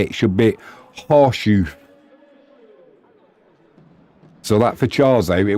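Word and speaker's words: Chorzów: So it says, in English, it's Chorzow in English, but in Polish, it would say it should be horseshoe.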